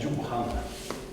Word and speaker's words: Johan: Hello everybody, I'm Johan from Sweden. Would you say your first name again, please? It's like John, but A after the H.